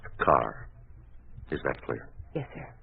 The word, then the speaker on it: Carr: And the name is pronounced Carr.